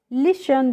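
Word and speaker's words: listen: अब एल आई एस टी ई एन को हम क्या पढ़ेंगे, लिशन पढ़ेंगे। यहाँ पे जो टी है फ्रेंड्स, इसका हम क्या करते हैं, प्रोनाउंसिएशन नहीं करते हैं, लिशन पढ़ते हैं, और लिसन का मतलब होता है सुनना।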